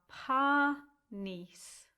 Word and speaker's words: Panis: So the first word has two syllables and they are panis. Panis.